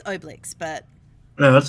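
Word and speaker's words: Obelix: and Oakley with them it's not how you pronounce his name it's technically it's oblix but no that's how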